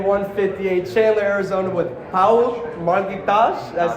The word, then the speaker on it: Marghitas: We're at LFA 158, Chandler, Arizona with Paul Marghitas.